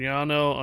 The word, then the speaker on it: llano: The word llano in Spanish means plain, referring to a flat, open, grassy area. Pronounced as llano, with the double L sounding like the English E. Y.